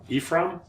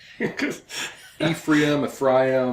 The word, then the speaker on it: Ephraim: Yeah, the more I told Gary, the more I travel internationally, the more I hate the way Americans pronounce some of these names. The Hebrew is Ephraim.